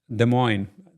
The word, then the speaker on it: Des Moines: Des Moines, is how you pronounce it here in the States, right?